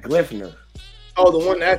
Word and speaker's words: Gleipnir: This last one I had on my list because it's spelled GLEIPNIR. So it's like Glyphner.